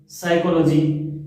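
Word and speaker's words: psychology: साइकोलॉजी की spelling P से start हो रही है लेकिन इसमें पी साइलेंट है।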